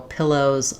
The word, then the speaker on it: pillow: So clear vowel on the end, but shorter because it still has first syllable stress. So when you're doing pillar, pillar, make sure that you just are able to put the on even though it's unstressed.